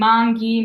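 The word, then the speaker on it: manghi: softer so hard G example of this is mangi so we have our GH here and mongi means mangoes now I wrote it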